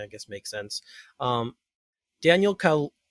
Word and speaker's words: Kaluuya: Daniel Kaluuya, I can never say his name. Kaluuya, that's it.